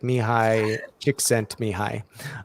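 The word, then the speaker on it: Mihaly Csikszentmihalyi: called flow um and i always struggle to pronounce the author's name but it's like mihai dick sent me hi um and so this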